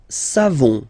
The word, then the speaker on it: savons: Nous savons. So classic ending for nous, O-N-S. You don't pronounce the final S.